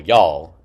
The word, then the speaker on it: y'all: So y'all is obviously it's very shortened. It's one syllable. Y'all y'all. Uh not you all, but y'all.